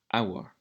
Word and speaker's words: hour: We're looking for words beginning with the silent letter H. So we've got H. So, for example, in hour.